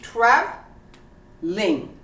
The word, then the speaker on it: traveling: family family how about traveling traveling it's pronounced trav ling traveling so these are all two syllables how about some like